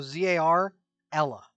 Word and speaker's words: Zarella: Do I spell that like gorilla? Spell it out in the Moonshade Keep chat I if am. you would. I am. Okay, cool. It's spelled like gorilla or gorillas. And if it is like gorilla, is it like gorilla as in the ape or gorilla as in guerrilla warfare? It's Zar, so Z-A-R, Ella. Zarella.